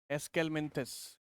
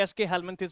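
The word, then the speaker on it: Aschelminthes: लोग इसे एसके हेलमिंथस भी कह देते हैं या फिर एस्केलमिंथस भी कह देते हैं, तो अपना अपना प्रोनाउंसिएशन है, जैसे बुला सके। तो मैंने क्या बोला, एसके हेलमिंथस या फिर एस्केलमिंथस बोल सकते हैं।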